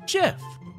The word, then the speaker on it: GIF: When graphics is pronounced Jaffix, then I will pronounce GIF with a J.